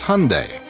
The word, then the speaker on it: Hyundai: during the Super Bowl it's Hyundai like Sunday we hear Hyundai Hyundai